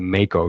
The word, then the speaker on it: mako: i was correct but we're going with the mako shark is that correct as far as i